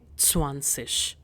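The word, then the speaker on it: zwanzig: We say swansish.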